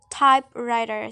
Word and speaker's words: typewriter: another example is the word typewriter so the stress is on the first element type next is the compound